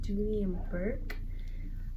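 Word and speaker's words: Dooney & Bourke: First off is, I hope I'm saying this right, but I think it's pronounced Dooney and Burke.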